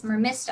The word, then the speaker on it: Mermista: am um mermista that's what it is it's mermista i pronounced it wrong so um mermista so i